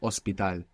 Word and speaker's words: hospital: which is fine but to get the perfect accent you really want to think in your mind that it begins with o there you are perfect ospital horrible or good and